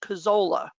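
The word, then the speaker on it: Kuczala: some reason pronounced k-u-c-z-a-l-a it's always been pronounced cazzola um so uh thomas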